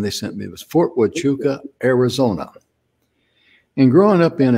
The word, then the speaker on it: Huachuca: part of my life no one told me that you pronounce an h with a w you know i think